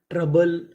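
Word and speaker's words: trouble: TROU ट्रा, BLE बल, ट्रबल, ट्रबल।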